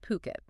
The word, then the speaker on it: Phuket: It's pronounced Phuket.